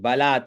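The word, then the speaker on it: बलात्: गतसारम भुजवनम बलात कैलासेपी बलात ब ला आधा त तो बलात कैला कैला से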